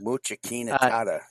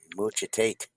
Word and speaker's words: Muchalat Harry: And before anyone mocks us for a pronunciation of this man's Muchalat no, okay, that's not it. Muchalat.